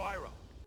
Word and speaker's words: Iroh: And by the way, just a fun little tidbit, they do pronounce the names different from the show as well. My name is Ang. I'm Aang. Sokka. Sokka! My name is Iro. General Iroh.